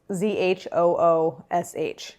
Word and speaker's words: zhoosh: Oh, also I learned that zhuzh is spelled Z-H-O-O-S-H. But that sounds like zhoosh. So I disagree with that spelling.